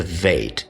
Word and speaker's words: Veit: And the one with the dot or the dagesh is called the BEIT, and without it's called the VEIT.